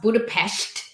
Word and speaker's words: Budapest: And from them, I learned that it's pronounced Budapest.